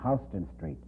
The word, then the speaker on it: Houston Street: New York in the Lower East Side on Houston Street. I said, in the first place, Houston, in the entire world is pronounced Houston.